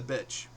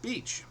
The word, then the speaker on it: beach: On her summer getaway to Wildwood, New Jersey, she proclaims, "I love the bitch." I say, "No, honey. It's pronounced beach."